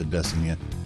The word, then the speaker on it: Adesanya: Okamoto, who pronounces it Adesanya. And I think what may have happened is Adesanya may have told him that it's actually pronounced Adesanya.